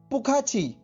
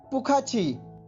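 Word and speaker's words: 不客气: यू are welcome, और Chinese में बोलेंगे आप पुखाची पुखाची पुखाची।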